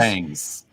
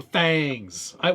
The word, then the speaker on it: Thangs: It's pronounced you could just fangs. Oh, thangs. Yeah, Fangs. that's right. It's in the Thingiverse. It's thangs.